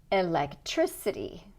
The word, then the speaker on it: electricity: Make the stressed syllable a little bit longer, stronger, a little bit higher. Personality. Electricity.